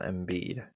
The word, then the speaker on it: Embiid: next question Joel M Joel embiid is how you say his name he's hurt yes what